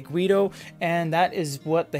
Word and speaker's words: GVIDO: It is spelled with a V, but don't be confused, it is pronounced GVIDO.